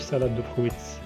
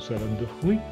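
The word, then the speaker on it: salade de fruits: سالاد دو فروي فيها الاس ما نطقوش الاس، ما نقولوش سالاد دو فرويتس نو. دي بات نقولو دي بات، و سالاد دو فروي نقولو ليها سالاد دو فروي.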